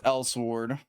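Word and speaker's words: Elsword: Thought it was Lord. No, the E the E is still sadly pronounced. It's L sword.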